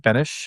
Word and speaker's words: Benes: Benish. Benish. Perfect. So um Please introduce yourself. Let us know who you are and what you do. Yeah, hi everybody. My name's Benish.